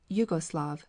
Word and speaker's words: Yugoslav: concession to German transliteration, many prefer to write the word Yugoslav, which represents its pronunciation.